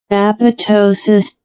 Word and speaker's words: apoptosis: Uh in contrast uh apoptosis see the pronunciation here aptosis.